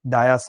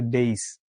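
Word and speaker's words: dais: ডায়াস না। উচ্চারণ হচ্ছে ডেইস।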